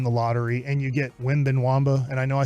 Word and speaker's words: Wembanyama: get lucky in the lottery and you get Wembanyama, and I know I say his name wrong, but say it, Reggie. Victor Wembanyama. Wembanyama.